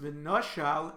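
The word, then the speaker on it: ונשל: It is read v'nishal, the axe dislodged the wood. The Chachamim hold yesh aim la mikra. The pronunciation is primary. It is pronounced v'noshal, an intransitive verb referring to the axe.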